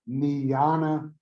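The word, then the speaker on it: jnana: and that is called niana marga and niana is spelled j-n-a-n-a and marga is m-a-r-g-a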